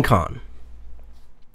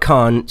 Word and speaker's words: Khan: my own con okay captain Kahn not cons as in co n but kha in any way he said